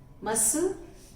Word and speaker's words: muscle: C is silent, muscle, scissors, fascinate.